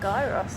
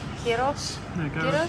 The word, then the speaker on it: gyros: So, it's a bit like a gyros, I guess. I No, that's not how you say it. Kirros kind of thing.